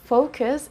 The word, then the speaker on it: focus: Quick pronunciation lesson, this is focus and not focus, okay? It's not focus, it's focus. Listen to the sound of U here, it's not oo, it's The only preposition that we use after focus is on.